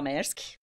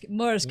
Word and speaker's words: Maersk: É a minha terceira passagem pela Maersk.